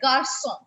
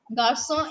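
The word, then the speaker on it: garçon: is pronounced as cur but if we have this accent placed in any word under c we are going to pronounce it as sub like garson garcon is a boy we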